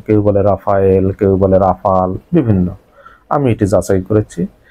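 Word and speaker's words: Rafale: পাঁচটি যুদ্ধবিমান নাই খেয়ে ফেলছে এবং কিরকম যুদ্ধবিমান রেফালে ফ্রান্সের ধরে রেফালে যুদ্ধবিমান। প্রিয় দর্শক এই রেফালে শব্দটি বাংলাদেশের যত গণমাধ্যম আছে 99.99 ভাগেই সঠিক উচ্চারণ করতে পারে না। কেউ বলে রাফায়েল, কেউ বলে রাফাল বিভিন্ন আমি এটি যাচাই করেছি।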